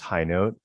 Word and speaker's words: Hinote: Yes, it is pronounced High Note.